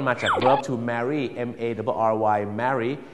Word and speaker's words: Mary: เสียง ยัง ไง ครับ Mary อัน นั้น มัน จะ ออก เสียง สระ เอ หน่อย ฮะ Mary อย่าง เช่น ถ้า